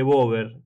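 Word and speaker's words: Boyd: gol en contra y decirle Bob que es el apellido pero bueno se escribe W En definitiva y se pronuncia Bob pero un cabezazo raro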